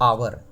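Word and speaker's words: hour: यहां पे देखिए आवर आ वर। तो आ पहला लेटर आ रहा है तो एन लगा दिए।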